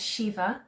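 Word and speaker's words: Síomha: So a singer, her name is Shiva, she's Irish. So her name is spelled S-I with an acute, I think, S-I-O-M-H-A,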